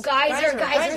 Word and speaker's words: Geyser: Oh, Geyser, so right? Good. Yeah, Geyser. I was like, am I pronouncing it wrong?